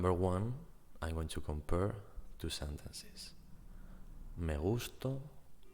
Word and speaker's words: me gusto: In the first case, the stressed syllable is gus. Me gusto. That means I like myself. In the second case, gustó, to is the strong syllable, the stressed syllable in this case, and it means I